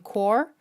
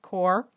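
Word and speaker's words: Qor: So a Cobalt Teal from Core, I'm pretty sure I'm pronouncing that right, Q-O-R, Core, and then an Opera Pink from Daniel Smith.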